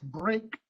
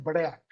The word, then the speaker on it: Brougham: vehículo que en inglés se llama Brougham, aunque se escribe B-R-O-U-G-H-A-M, y que en español utilizamos un anglicismo que, si sabemos inglés, diríamos brake, y si no, diríamos break.